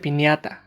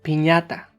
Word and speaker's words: piñata: No se pronuncia piñata, sino piñata. La tilde indica cómo debemos pronunciar las palabras en español.